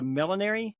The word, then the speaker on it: millinery: Joanna is a millinery. Is that how you pronounce it?